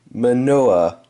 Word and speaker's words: Manoa: cards stuck together Tim magnet Noah wait Tim manoa then that's how you pronounce his last name running back player this